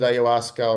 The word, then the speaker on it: ayahuasca: Uh, Pronounce that word again for listeners. The plant is called ayahuasca.